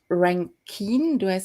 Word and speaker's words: Rankine: first speaker is that's david rankine pronounces correctly david rankin he he's um he's